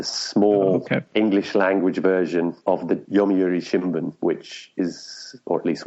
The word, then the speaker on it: Yomiuri Shimbun: 96 period how long did you work at Yomiuri Schumann I think I said it wrongly the first